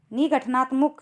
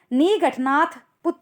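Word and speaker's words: निगंठ नातपुत्त: निगठनात्मुक से हुआ था। सॉरी, थोड़ा प्रोनाउंसिएशन गलत हो गया है। निगठनाथ पुत से हुआ था।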